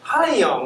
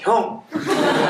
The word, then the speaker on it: 형: 제 그 스펠링이 HYOUNG이기 때문에 읽는데 하이 형 이렇게 읽는 사람들이 많아요. 그럼 제가 꼭 커렉트 해줍니다. Don't please call me 하이 형. Call me 형. repeat 형. 제 생각에 제 성이 임시였으면 얼마나 좋았을까. 형님. 발음을 그렇게 해줘야 정확하게.